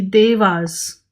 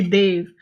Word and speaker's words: deva: also talks about the Devas I know this is a very English pronunciation of the word it's actually they've and nature spirits so